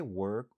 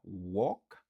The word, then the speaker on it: work: C'est pas walk, c'est work. Qui signifie travail.